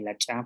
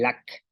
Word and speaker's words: lak: que la consonante cha y la cha, pues pueden estar al principio y al final de palabra.